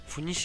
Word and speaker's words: Funisia: газете в 2008 году родовое название фуни происходит от латинского верёвка и произносится в рифму с тунисом видовое название доротея дано